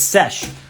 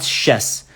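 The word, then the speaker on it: sš: it's nope nothing yeah so it's sesh not chess so it's sesh sesh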